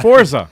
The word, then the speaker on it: Forza: that game is fire pure fire is it forza or forza it's forza ford's actually yeah what is it there's no t in it but you gotta pronounce it like you're like you're italian yeah oh yes but